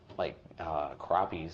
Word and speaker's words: crappie: Not sharks, but like crappies and stuff like that. Crappies. So you pronounce it crappie. From where I come from, we used to pronounce it crappie, but that's not.